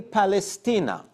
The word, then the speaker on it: Palestina: The Jews there said that they were my grandmother lived in Palestina. That's the way they pronounce Palestine.